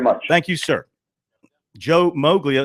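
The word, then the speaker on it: Moglia: Joe Mogia. It's actually pronounced Molia. That's how they pronounced it back in his homeland of the north, but down here it's become Mowglia.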